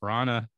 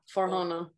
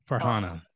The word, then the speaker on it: Farhana: successes of your documentary, whether it's Roger or Farana, and please correct me if I mispronounce somebody's name. Yeah, Farhana. Farhana, thank you.